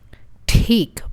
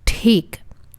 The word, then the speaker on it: ठीक: ठीक, which is fine. ठीक. There's a ta sound and then there's air coming out of our mouth.